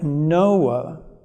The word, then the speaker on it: Noah: and he named him noah no ah is the way it's pronounced in hebrew and it's very similar to the sound that occurs in hebrew for the word comfort and so there is